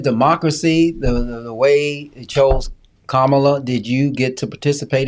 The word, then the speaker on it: Kamala: Kamala. The word comma, as in comma after a sentence, and add law.